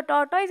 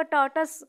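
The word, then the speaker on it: tortoise: बताइए बच्चों, आप लोग क्या कहते हो, टॉर्टोइज या टॉर्टस? इसको टॉर्टस प्रोनाउंस करते हैं वैसे।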